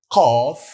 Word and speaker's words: Qaf: Then we have Qaf. Qaf. Qaf is like Q, but very stressed and heavy Q, like Qaf, Qaf.